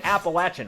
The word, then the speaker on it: Appalachian: freaking stereotype on an appalachian highway that hunky med student chris also just thrilled about it's on an appalachian and he's saying it right james is saying it our way yes thank you james